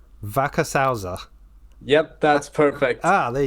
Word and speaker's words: Wackershauser: online just avoid saying your surname so please pronounce it for me that's okay it's Backus hausa Vaca salza yep that's perfect ah there you go not